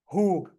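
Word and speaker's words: הוא: Pronouns, and again, ani, ata, at, who and he, which we have that tongue twister that who in Hebrew means he. In English, it will mean who, W-H-O.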